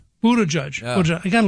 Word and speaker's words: Buttigieg: But I think Buttigieg, if I've said that right. Buttigieg. Buttigieg.